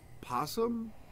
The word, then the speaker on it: opossum: I always thought it was like opossum. You know how like it's spelled with an O, but everybody just says possum?